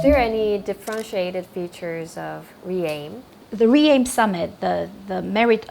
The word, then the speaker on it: REAIM: It sort of gives you an impression that you're re-aiming for the right path forward for the humanity.